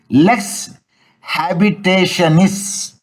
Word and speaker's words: lex habitationis: It is the Latin terminology is lex habitationis. Spelling LES lex space HABITATIONIS.